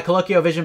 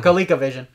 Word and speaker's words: ColecoVision: let's see on my colloquial vision back in 84 or our total playing adventure yeah that's where i played it a lot on yeah coleco i always say it wrong so colecovision uh probably so there